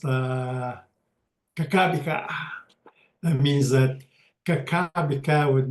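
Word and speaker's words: Kakabeka: Kehkayndahsohwin Falls just outside of Thunder Bay, but it's pronounced Kakabika.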